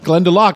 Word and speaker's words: Glendalough: 84 proof we have glen du lac glenn duloc van der luk all right that's pretty good yeah glenda lock i'm so used to not saying it right the first time i